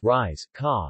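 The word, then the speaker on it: rieska: hoppin korppoo in Finland riska risk of pronounced rise kah is unleavened usually barley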